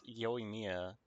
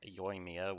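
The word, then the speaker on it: Yoimiya: me leaf but yeah he just pronounced his name as yo Mia and like everyone else pronounced it is like yoia with one syllable to start for yo right I always thought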